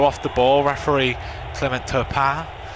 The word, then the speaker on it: Turpin: Referee Clement Turpin. I would have said Turpin if you didn't say it first, John. It's my horrible English pronunciation of the fine French surname, as Modric gets away